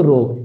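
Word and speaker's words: ρ: ঘনত্বকে প্রকাশ করা হয় রো দ্বারা এটার সঠিক উচ্চারণটা হলো রো এর সঠিক উচ্চারণ হলো কি বন্ধুরা রো এটা তোমরা এভাবে লিখতে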